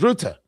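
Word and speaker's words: Rutte: Now we can equally say that Mark Root or pronounced sometimes Ruta who's the secretary general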